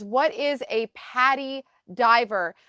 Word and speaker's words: PADI: One of my friends popped in and says, "What is a Patty Diver?" Patty is spelled PADI, and it's an Correct.